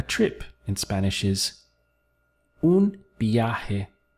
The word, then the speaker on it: viaje: A trip in Spanish is un viaje. Let's break the syllables down. So you have B, A, G. Notice the strong B sound over the V and this H over the J.